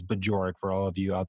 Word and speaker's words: Bajorek: I don't know how many people just can't understand how to pronounce my name, but that's what it is. It's Bajorek for all of you out there listening at home.